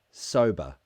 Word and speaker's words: sober: so the ER remember in British English er endings to words is the schwa sound sober it's a very lazy sound so say it with